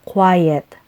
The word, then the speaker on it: quiet: natin ng word na Quiet take note of the spelling and pronunciation letter e muna bago t tapos two syllables ang pagbigkas parang ganito quiet ang Quiet ay isang